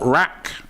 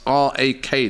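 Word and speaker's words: RAK: Says Robbie, you're saying my name wrong. It's not Rack. It's R-A-K. That's my initials.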